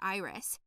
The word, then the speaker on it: Iris: me by my voice her name was aunt iris emphasis on the first eye she reassured me said